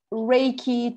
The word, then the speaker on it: Reiki: we learned is that Reiki two syllables Ray Universal energy and key like the the viral the Key Energy of of each person but from your understanding